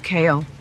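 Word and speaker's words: Cahill: My last name is spelled C-A-H-I-L-L, but it's pronounced Kale, like vegetables.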